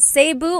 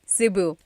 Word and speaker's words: Cebu: So, technically in the Tagalog alphabet, the letter E can be pronounced E or E like the letter I. So, I say Cu. Cebu. And I know some people say Sabu, but usually it's either Cu or Sebu.